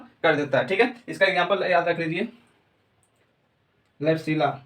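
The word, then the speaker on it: Klebsiella: ठीक है, इसका एग्जांपल याद रख लीजिए, क्लैप्सिला, बी साइलेंट रहता है, क्लैप्सिला।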